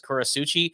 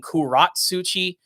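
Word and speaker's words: Kurotsuchi: Like one of the characters I love is Kurasuchi. I used to call him Kuratsuchi. Like I would really butcher the names, and even then I'm probably still saying it wrong.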